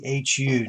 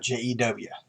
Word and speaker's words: Jehu: So without further delay, 2 Kings chapter 10 is about King Jehu, and that's Jehu, not Jew.